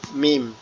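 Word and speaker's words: ميم: আরবি হরফের একটি হরফ মিম। এই মিমের উপরে জবর হইলে মা, মিমের উপরে জের হইলে মি। মিমটা কিভাবে উচ্চারণ হবে? মিমটা হচ্ছে আমাদের দুই ঠোঁটের শুকনো জায়গায় একসাথে লেগে থাকবে, লেগে উচ্চারিত হবে।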